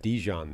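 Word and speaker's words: DeJean: with this draft by you mentioned Cooper uh Dijon there that's that's how is that's the Dane official pronunciation guide It's Cooper mustard that's what we're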